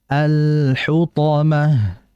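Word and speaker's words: الحطمة: Sehingga dibaca wama adrakamal hutomah alhutomah. Jadi jangan cepat-cepat. Kemudian berikutnya dalam pengucapan huruf th jangan dimonyong alhutomah. Hutomah tidak alhutha. Alhutomah. Jadi ketika h-nya itu monyong ketika membaca th netral bibirnya.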